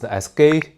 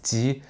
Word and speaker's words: 基: signifier gay, c'est parce qu'en cantonais, il se prononce "gei1". C'est comme ça que ça a commencé. Mais en mandarin, on le prononce "jī".